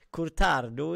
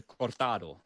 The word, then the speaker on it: cortado: Och så säger Kid att cortado inte är så lätt att säga. Magnus, hur uttalar man det? Ja, men jag har ju bott i Spanien, heter cortado. Cortado.